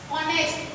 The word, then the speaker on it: ऑनेस्ट: ऑनेस्ट, HONEST, ऑनेस्ट. तो ये ऑनेस्ट की जो स्पेलिंग है तो यहाँ पे जो H है वो क्या है? H यहाँ पे साइलेंट है.